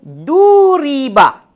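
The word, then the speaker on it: ضُرِبَ: Tiba-tiba kita jumpa sebutannya duriba. Ejaan yang sama, sebutan yang berbeza.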